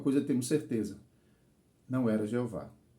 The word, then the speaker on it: Jeová: o h mas só lembre-se o o h em português é mudo então fica I Jeová Jeová então está claro que